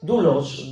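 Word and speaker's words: δοῦλος: Y la palabra que se utiliza aquí es dulos, doulos se escribe, que es el concepto de esclavo.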